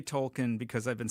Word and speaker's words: Tolkien: Well, I've always heard, I think he might have mentioned in a letter that it's Tolkien is how he would pronounce it. Okay. And Professor? I say Tolkien because I've been saying